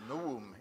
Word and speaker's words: novum: it was called the novum instrumentum omne or for those of you who know Latin better than most biblical scholars Noam instrumentum omne you don't pronounce the V but all biblical scholars